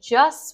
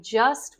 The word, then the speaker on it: just: how you're doing okay so I want to draw your attention to the t's in just and wanted so I didn't actually pronounce the t's in either of these words I just wanted I just wanted